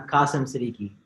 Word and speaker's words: Kasim Siddiqui: Adie mine and awesome kasam I'm gonna butcher the last name Siddiqui how you guys say it say it correctly so my name is Arriba demon and I'm Qasim city nice there we go